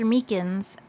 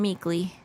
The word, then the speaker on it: Meekins: Actually, Officer Meekins at the detention center told us. That poor little doggy. Poor guy, I keep getting his name wrong and calling him Meekly.